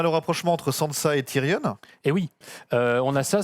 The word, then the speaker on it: Tyrion: Et il y a des gens qui me corrigent parce que j'ai dit Tyrion. Bah oui, en fait, les enfants, c'est un truc anglais, hein, donc on le prononce à l'anglaise.